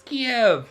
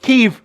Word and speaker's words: Kiev: And I'm like, it's Kiev! Smell like failure. Like, what? Prost. Kiev. Yeah. It's Kiev. It's Kiev. It's Kiev. It's not Kyiv.